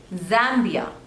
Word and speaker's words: Zambia: Next is Zambia. Zambia. There are 2 syllables. Zambia. And the stress is on the first one.